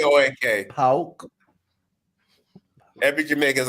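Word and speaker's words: PAOK: 2-1 against Leicester City, and 3-0 over Pauk. Pauk. P-A-O-K. That's how you say it. P-O-A-K. Pauk.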